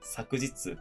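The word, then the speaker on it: 昨日: 그 앞에 쪽에 나와 있는 아시타라던가 기노우라던가 쿄 같은 경우는 훈독이고요. 뒤에 나와 있는 아스, 사쿠지츠, 콘니치 같은 경우는 음독이에요.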